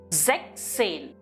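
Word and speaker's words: sechzehn: Zek Zain. Here the S is dropped from Zex and it is pronounced as Zek Zain.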